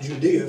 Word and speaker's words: Judea: Those of you viewing by the internet or by DVD, we're Mount Judy Christian Center. Mount Judea, if you want to say it right.